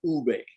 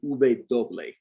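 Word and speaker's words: uve: bay the bay uh they've changed it to ube uh the w and this is also a regional thing in some countries it's pronounced doble some people do call it doble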